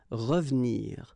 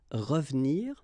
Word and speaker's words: revenir: So you've got re and then ve and nir, but then clearly you don't pronounce it, so you get revenir, revenir.